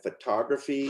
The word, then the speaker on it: photography: And photography. Photography. You add the suffix and the stress changes.